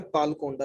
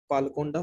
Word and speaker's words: पालकोंडा: पी का मतलब है पालकोंडा hills, spelling PAL KONDA, पालकोंडा, पालकोंडा hills.